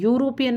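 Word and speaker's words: European: सोचोगे एन लगानी चाहिए नहीं यूरोपियन में ई साइलेंट है और यू से इसकी साउंड है वन यहां ओ एन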